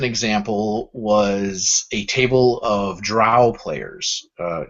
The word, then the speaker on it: Drow: The more recent example was a table of Drow players. Is it Drow or is it Dro? I don't know how you pronounce that. We'll go with Drow. Rhymes with cow.